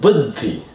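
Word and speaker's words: बुद्धि: Booty is special because, like you were saying, that word would be pronounced buddhi. And so just like Buddha with a DDH, buddhi and Buddha are two related words. Unlike Bodhi, Bodhi has just one DH.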